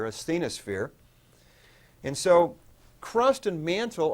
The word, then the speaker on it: asthenosphere: here the bottom called asthenosphere kind of phonetically as the no spere asthenosphere and so crust and